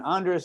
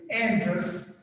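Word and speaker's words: Andrés: being with us and andres am i pronouncing your name correctly you are okay well when i introduce myself i say andrews but in spanish the a is a softer a so under kentucky and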